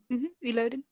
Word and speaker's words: Illidan: Am I saying his name wrong? Illidan.